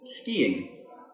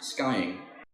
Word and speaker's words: skiing: say these after me skiing not skying ballet notice the T